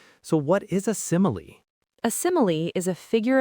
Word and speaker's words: simile: The first syllable sim gets all the stress. So what is a simile?